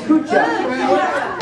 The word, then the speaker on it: Kucha: Say with me, please, Kucha.